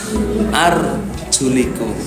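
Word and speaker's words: أَرْجُلِكُمْ: Satu bacanya fathah arjulakum, satu bacanya kasroh arjulikum.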